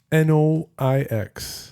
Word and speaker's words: noix: Noix.